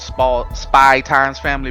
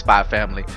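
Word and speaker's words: SPY×FAMILY: So kind of like the way they throw it, Spy Times Family, but it's pronounced Spy Family.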